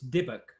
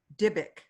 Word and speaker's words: Dybbuk: It's Dybbuk. Dybbuk.